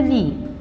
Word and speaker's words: lit: Le lit, le T ne se prononce pas.